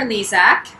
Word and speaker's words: Lezak: We are live today with Jennifer Lezak. Did I pronounce that right?